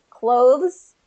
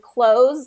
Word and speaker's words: clothes: th sound in there, clothes, but in connected speech, typically Oh, that th gets swallowed up and you don't hear it. And so if you pronounce it as close, like close the door, mhm.